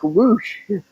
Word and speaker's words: Rush: And I think that's why they're pronouncing him like Roosh. Um, I I've only called him Rush. That's how it's spelled, anyway.